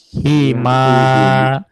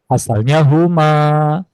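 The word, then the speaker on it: هِمَا: Hima. Asalnya huma. Ya, tapi karena sebelum huma itu harokatnya kasroh, maka yang tadinya hu menjadi hi untuk memudahkan pelafalan. Begitu juga ketika banyak laki-laki.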